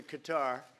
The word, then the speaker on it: Qatar: And with Bahrain and with Qatar, there's 6 different ways of pronouncing that, from Qatar to Qatar, right? There's many, many ways of pronouncing it. All of them are acceptable.